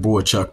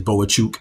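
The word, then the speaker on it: Bohachuk: uh seven Eric suin I know it looks like Bo chuk but you know he has saided himself as boa chuk the correct pron pronunciation uh number seven Eric suin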